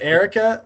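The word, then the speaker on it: Eirika: now i guess but for erica i always i always kind of knew it was erica i knew a couple areas in real life but i don't know i i mean i knew some arrogance too but the ayah throws me off i'm like if it's erica there shouldn't be a random eye in there yeah i don't know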